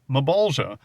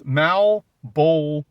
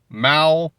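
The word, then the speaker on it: Malebolgia: The correct pronunciation according to this comic book is Malbolia. So it's not Mabula. The L is pronounced. It's Malbula.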